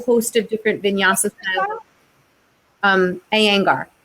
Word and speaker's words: Iyengar: Iyengar. It's spelled I thought you said anger. I'm like, what? Iyengar. Anger. Thank you. Not anger.